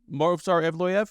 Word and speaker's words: Movsar Evloev: I'm going with Movsar Evloev. Did I pronounce that correctly? Movsar Evloev?